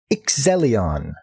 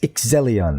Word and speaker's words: Iczelion: sticky note watch Phantoms this anime is called excellion I see Zed e l i o n and yes I pronounce it Zed yeah so there's her power